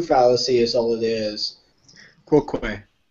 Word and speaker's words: quoque: Quoque. Everybody says it wrong.